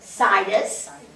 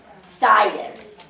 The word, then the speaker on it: situs: How do you pronounce that word? Situs. Situs.